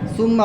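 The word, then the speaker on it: ثُمَّ: জুর তুমুল হ্যাঁ হাই সুম্মা বলতে বারবার বলতেছে আর সফট হবে নরম হবে সুম্মা সুম্মা হ্যাঁ বলো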